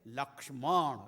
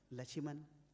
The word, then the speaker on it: Lakshman: They say Lakshman, it's so difficult to pronounce that. Lachiman, kitna easy ho gaya.